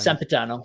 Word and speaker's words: Sempiternal: Sempiternal.